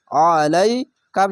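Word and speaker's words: عليك: জবর কা আলাইকা আলাইকা আইনটিকে গলা চিপে মোটা করে পড়বেন আইন জবর আ লাম মিয়া জবর লাই কাফ জবর আলাইকা কেন এই আলিফের মত এই আইনটিকে উচ্চারণ করবেন না এটি হচ্ছে আলিফ খার জাবার আরে এটি আইন জাবার আ মোটা করে গলা চিপে পড়বেন আলাইকা বা লাম জের বিল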